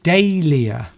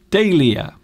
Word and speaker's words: dahlia: That word is pronounced dahlia. Dahlia. Dahlia. So you have actually spelt it right. It does have an H in it. Yes. Dahlia. But you don't actually pronounce the H, so it's just dahlia.